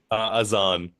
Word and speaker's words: Aan: Aan, have I pronounced that correctly? Aan, that's close enough.